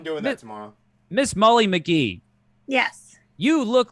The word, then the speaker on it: Magee: I type, I always think it's McGee, and it just the C is not pronounced. Yeah. It's actually Magee, far more common in Ireland than here, I guess.